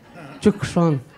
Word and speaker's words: Chukshon: So I always tell people, the C is not silent, it's Chukshon. In Spanish, I think they say Tucson. So I say, yeah, the C is not silent, it should be pronounced.